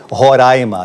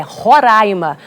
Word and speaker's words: Roraima: leque ninguém confunde lá o que gera confusão é como se pronuncia o nome do estado eu já aprendi há muito tempo que é roraima até porque se eu